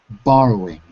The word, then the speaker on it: borrowing: borrow but the but the point is it's three syllables borrowing borrowing because I wasn't hearing the third syllable so now you have